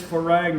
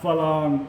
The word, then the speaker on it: farang: It is farang, not phalang. Whatever, dude. I've had this conversation. It really ticks me off. In Isan, they say phalang. The correct word for foreigner is farang. It's spelled with rarua, so it's farang.